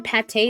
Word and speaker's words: Pate: I thought her name was Pate because they didn't put an accent on the E, but I guess in